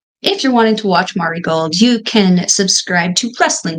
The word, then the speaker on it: Marigold: if you're wanting to watch Mar gold Mari gold said it wrong naughty mball if you're wanting to watch Mari gold you can subscribe to